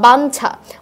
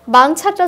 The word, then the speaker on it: বাঞ্ছা: যখন ইওর সাথে ছ যুক্ত হয়েছে ইওটা উচ্চারণ হয়ে গেছে নয়ের মতো। বাঞ্ছা। ব্যঞ্জন, যেটা আমরা বেশ কয়েকবার